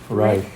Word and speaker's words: Reich: Reich. Reich. Yeah. The German word for kingdom to refer to this German kingdom. Yeah. So that's Hitler's the Third Reich. They call it the Third Reich.